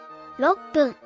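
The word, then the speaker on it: 六分: Drop the KU to leave RO. Then add PPUN after that, becoming 6分 6分 for 6 minutes.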